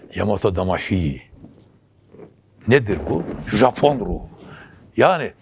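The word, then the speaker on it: 大和魂: Ondan tam doğru telaffuz yani Yamato Damashii değil. Hi değil, ikisi arası bir ses. Yamato Damashii.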